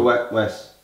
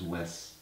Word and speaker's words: Wes: It's Wes. Why is it Wes? Wes. Wes. Wes. W-E-S. Not Wes. No, Wes. Wesley. Yeah, I know. Wesley. Wes. That's what he says. It's don't pronounce it with a Z.